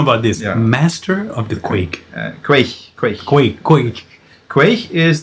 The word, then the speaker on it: Quaich: yeah quite quick quite the thing is that we see the ch and we go yeah no it's quick the german word sounds